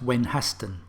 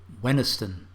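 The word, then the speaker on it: Wenhaston: grundysburg nope grunsborough hollersley nope hoesley surely that's when hasten nope weniston now we've never needed to pronounce this one although we've seen it written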